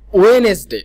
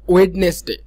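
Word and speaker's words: Wednesday: সো সবগুলো আমরা মোটামুটি ঠিকই উচ্চারণ করি, কিন্তু যখন আমরা টিউসডে এবং ওয়েনেসডে বলতে যাই, এই দুইটা হয়তো আমরা টুসডে অথবা ওয়েডনেসডে অনেকে বলে ফেলি।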